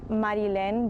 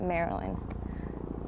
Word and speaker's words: Marylen: So it's in Spanish, it's Marilyn, but here everyone just reads it Marilyn.